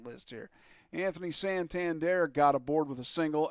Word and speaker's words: Santander: there thank you I'm looking right at my pronunciation list here Anthony Santander got aboard with a single and and then